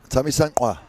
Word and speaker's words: Thamisqa: Tamisankwa.